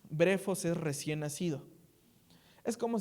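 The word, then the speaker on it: βρέφος: Porque si no hubiese utilizado la palabra griega que se que se pronuncia brefos. brefos es recién nacido.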